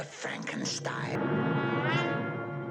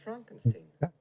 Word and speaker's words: Frankenstein: Dr. Frankenstein. Frankenstein. It's pronounced Frankenstein. Isn't it Frederick Frankenstein? It isn't. It's Frederick Frankenstein.